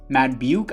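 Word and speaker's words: Madubuike: Sacks 6.5 for Justin Madbuke, I believe is how you pronounce it.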